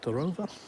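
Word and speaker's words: дрова: Drova O on the end of a word is quite often pronounced as ah.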